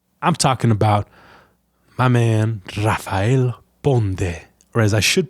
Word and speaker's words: Rafael Ponde: I'm talking about my man, Rafael Ponde, or as I should pronounce his name, Rafael Ponde.